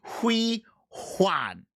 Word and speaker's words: Hui Juan: And you must pronounce it with the H. The H is not silent. Hui Juan.